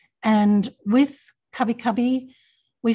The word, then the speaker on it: Kabi Kabi: languages and other languages, there are often sounds that are in between two letters within the English alphabet. And with Kabi Kabi, we spell it K-A-B-I, K-A-B-I.